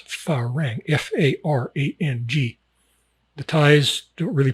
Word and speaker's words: farang: And it's pronounced with the emphasis a little bit on the fa.